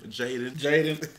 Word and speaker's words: JDN: It's spelled uniquely. Thank you, JDN. This is freaking cool. Jaden. Jaden, JDN.